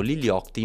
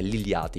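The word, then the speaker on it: Lil Yachty: adesso possiamo buttarci sull'iliati che io ho sempre chiamato liliotti ma so che questa pronuncia è sbagliata e quindi di regola è liliati Mi sforzerò di chiamarlo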